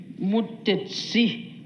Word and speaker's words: Mutesi: also in Ankole, but in Ankole, they pronounce it a bit differently, Mutesi with the T-S-I.